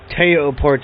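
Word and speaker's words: Théo Pourchaire: Teo Porcher takes the checkered flag. Teo Port.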